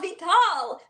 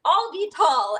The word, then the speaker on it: Avital: abital who are you I'm aital but Siri thinks my name is is I'll be tall and if you saw